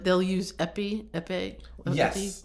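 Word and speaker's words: épée: Somebody said, well, I know like they'll use epi, yes, like the how do you pronounce it? Epi? The fencing sword. Yeah. Epi, like E-P-E-E, because it's just like you just need that's a lot of E's.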